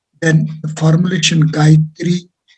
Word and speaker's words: Gayatri: Then the formulation Gayatri is a composition of 3 syllables, Ga, Ya, Tri, and as such, this fold leads to TC value 3.